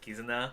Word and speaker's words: Kizuna: thought it was written that way but you pronounce it kizuna i mean they had the kakanaki soon and